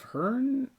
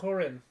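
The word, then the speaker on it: Húrin: It's got a, I forgot how to say it, but Horn. Hearn. You're talking about the Tolkien. I mean, like. Yeah, I forgot what's got that little accent. The Children of Hurin.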